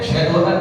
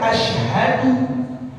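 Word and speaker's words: أشهد: oleh orang yang az dia enggak baca huruf hamzah pada kalimat ashadu Enggak dibaca tuh. Enggak dibaca ashadu tapi baca asadu asadu syadu. Ada enggak begitu? Ada. Ada. Mestinya hamzahnya dibaca ashadu.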